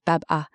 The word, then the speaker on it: Babin: Your surname Babin, pronounced Baba, is the final piece.